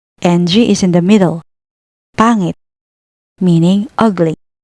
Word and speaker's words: Pangit: Notice how no matter where the H or NG appears, the sound never changes. This makes reading and pronouncing Tagalog words much more predictable than in English.